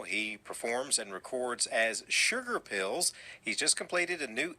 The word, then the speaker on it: Shugar Pills: He performs and records as Sugar Pills.